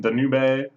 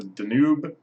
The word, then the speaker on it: Danube: there sure and then the new bay the Danube sorry hey I pronounced it as if it was a Japanese word but the Danube at